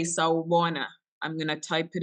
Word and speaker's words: sawubona: So please put on your microphones and say sawubona.